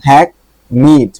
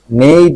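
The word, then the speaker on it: hackneyed: হ্যাক নিড, এটা উচ্চারণ কিন্তু হ্যাক নিড, নেইড না, নিড।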